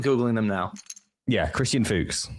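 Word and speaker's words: Fuchs: Yeah, Christian Fooks. It's spelled f u c h s.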